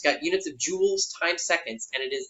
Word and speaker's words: joules: So energy, when we talk about this, we're mainly going to be talking about energy measured in joules. That is pronounced like jewels, the precious jewels, which I might wear around my neck if I were, I don't know, some dude who wore jewels.